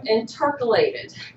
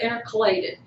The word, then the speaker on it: intercalated: cell because of now she pronounced them intercalated okay I've always heard intercalated but I guess you